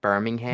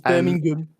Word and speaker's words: Birmingham: Have you seen how Americans say Birmingham? They're like Birmingham. Birmingham. Are you in Birmingham? It's Birmingham.